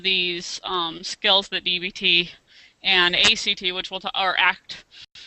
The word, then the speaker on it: ACT: learning some of these skills that dbt and a CT which will to our act on its you're supposed to pronounce it like it is on which we